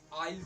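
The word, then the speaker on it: I'll: होता है, इसका मीन्स इसका जो प्रोनाउंसिएशन करेंगे वो आइल से करेंगे।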